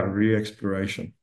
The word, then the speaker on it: ReeXploration: Did I pronounce that properly, Christopher? Correct. Yeah, reexploration.